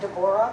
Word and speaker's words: Deborah: It's pronounced Deborah, but I go by Debbie, so it makes it easier.